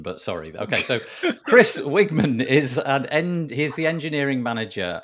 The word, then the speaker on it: Wiegman: Chris Wiegman. Wiegman. Okay, I was going to say Weigman, but sorry. Okay, so Chris Wiegman is he's the engineering manager on the Faust.js